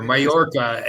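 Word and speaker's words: Mallorca: talking about Alaska uh it's major mayorca is or mayorca is how you say it for that's how the castillano say it all right at the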